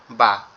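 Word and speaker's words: ب: আর বা আমরা কোথা থেকে উচ্চারণ করব? বাটা আমাদের দুই ঠোঁট একত্রে লেগে যাবে, পৃথক হয়ে যাবে, তখন আওয়াজটা বেরোবে বা বা বা, এরকম ভাবে।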